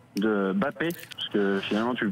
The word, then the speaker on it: Mbappé: J'ai vu une interview et il l'a dit, ça se prononce Mbappé. Mbappé, s'il l'a dit, alors d'accord, c'est très bien.